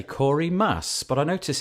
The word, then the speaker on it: Maass: have Corey now I want to say Corey mass but I notice it's M double a SS how do you pronounce your surname Corey I generally pronounce it mass like the green stuff on Iraq okay your